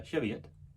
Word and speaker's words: Cheviot: the uh narrowboat uh cheviot that's apparently how it's pronounced uh this is not